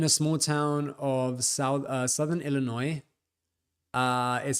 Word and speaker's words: Illinois: I'm in a small town of southern Illinois. Is how to pronounce it.